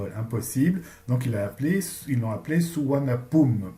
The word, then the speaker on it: Suvarnabhumi: Donc ils l'ont appelé Suvarnabhumi. Pum, la dernière syllabe du nom de l'aéroport, rappelle la première syllabe du nom du roi.